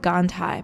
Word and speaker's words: Gandhi: end of Madame and then Gandhi is G a and D H I like gondii but everyone smells Gandhi wrong as well so